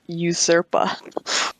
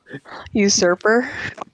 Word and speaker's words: usurper: But my new favorite word is usurpa. Usurpa. I mispronounce it? Usurper. Just a little bit. It's close enough. It's my new favorite word, now, Gary. Usurper with an R.